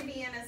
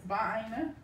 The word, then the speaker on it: Vienna: I eat a Vienna sausage sandwich too.